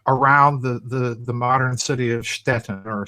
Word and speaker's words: Stettin: It would be over around the modern city of Stettin or Stettin. I can't pronounce it in Polish, but the German pronunciation is Stettin.